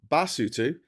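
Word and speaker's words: Basotho: Uh, lutu is pronounced lutu. The people are called basutu and the language is called cisutu.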